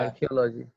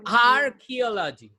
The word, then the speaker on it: archaeology: Logy is not the right way to pronounce any word.